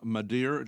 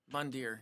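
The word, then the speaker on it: Mandir: massive new Hindu temple now the new Ram Mader did I say it right mandere yeah m Temple dedicated to Hindu god Rah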